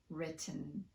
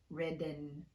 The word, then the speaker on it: written: For these, we use a glottal stop in place of the T, and that's a topic for a whole other video. If you have trouble using the glottal stop, it's safe to just fully pronounce the T. So it's fine to say cotton, certain, written, and gotten, but not codden, certain, ridden, or godden.